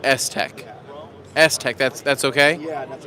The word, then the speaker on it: STEK: How do you say it? It actually comes from Shield technology. So you can become STEK. Yeah. So you say STEK.